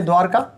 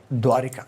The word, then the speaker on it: द्वारका: हमारे बहुत सारे भाई बहनों का नाम होता है द्वारका, लेकिन हम बोलते क्या है? द्वारिका, जो कि अशुद्ध है।